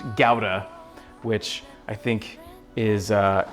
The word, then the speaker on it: gouda: I have learned that that gouda cheese is actually pronounced gowda which I think is uh is obnoxious and I don't like it I'm gonna call it gouda it's gouda to me